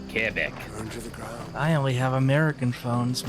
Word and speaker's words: Quebec: You gotta say it like a francophone does. Not Quebec, but Quebec.